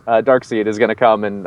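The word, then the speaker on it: Darkseid: seed I think it's I believe it's dark side that's the way it's been pronounced in the comics you know Kirby used to always like do that play on words kind of thing so it's probably dark side so when he shows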